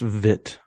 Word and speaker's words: Witt: that's not gonna help it's pronounced vit oh Bobby Vitz it's